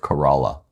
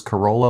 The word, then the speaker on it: Corolla: the northernmost island of Corolla. Oh, is that how you pronounce it? It is. Was I always pronouncing it wrong when we were there? Well, we both thought it was Corolla, like the car, but we Right.